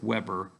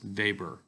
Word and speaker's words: Weber: It looks like Weber, but it's pronounced Weber.